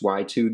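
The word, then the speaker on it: YU2: to the right of those are the kanto y2 desktop speakers they're spelled like youtube but they're pronounced y2 these are really good desktop speakers they're not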